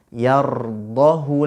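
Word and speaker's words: يَرْضَهُ: Tetapi khusus pada kalimat ini berdasarkan riwayat yang sampai kepada kita, maka cara membacanya dibaca pendek. Yardahu lakum. Hu-nya dibaca pendek.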